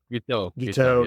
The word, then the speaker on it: Guiteau: Guiteau, Yeah, he's crazy.